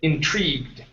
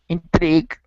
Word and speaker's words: intrigued: intrig okay give me give me a good TR instead of intrig okay it's tree intrigued intrigued okay now pronounce a CH HR like TR TR intrigue intrigue there you go that's it okay uh